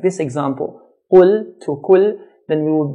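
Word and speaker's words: قل: Qaf, when we pronounce it in a heavy manner, as in qul, qul means say. If we pronounce qaf in a light manner to make it sound like a kaf, kul, kul, this changes the meaning from say to eat.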